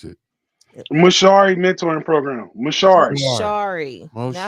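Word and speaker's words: Mshauri: I don't know how to pronounce it. MaShauri mentoring program. MaShauri.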